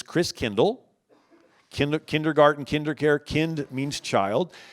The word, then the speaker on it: Christkindl: And the German pronunciation of Christ child is Christkindl.